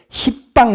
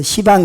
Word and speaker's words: 시방: 하면 열 개 방위를 십방 십방 그러면 발음이 좀 곤란하잖아요 그래서 시방 그러는데 시방은 우자를 번역한 말이다